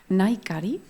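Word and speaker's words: Nahikari: Voy a sumar a Andrea y a Naikari, que no pronuncie la H, que es muda en este caso.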